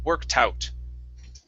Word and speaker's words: worked out: now you're almost there all you need to add is a t sound at the end of work okay now one help that you can use okay is instead of adding the t to the end of work put it at the beginning of out okay so it's work tout worked out worked out worked out so the